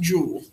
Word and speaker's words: joule: looking for a wrong answer and guide was pronounced jewel not the name it would you know use